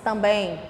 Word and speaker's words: também: Heróis também. Em seguida, mais um. Também. Olha a pronúncia, também. Ah, eu tô indo tão bem. Olha aqui a puxada do som nasal, né?